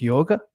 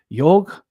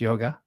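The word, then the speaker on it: योग: it in terms of yoga yog yog is how it's pronounced in the west we call it yoga um so yog which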